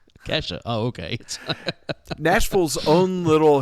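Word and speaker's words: Ke$ha: the principal always kept pronouncing her name like that. Like, dollar sign. It's like Kesha.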